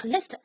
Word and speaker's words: est: 候 st 是要发音的， l'est 东面，l'ouest 西面，那南